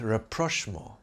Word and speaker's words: rapprochement: Now let's reconcile French style with rapprochement. A word that means reconciliation or the establishment of harmonious relations. Rapprochement, that's how it's pronounced in French, is what happens when